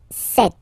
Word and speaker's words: cet: So for the masculine form, it will be ce, ce, and then it will be set.